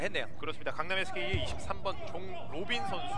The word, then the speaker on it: 종로빈: 강남 SK의 23번 종로빈 선수. 저희가 종도빈이라고 읽었는데 네네네. 이름이 로빈이네요.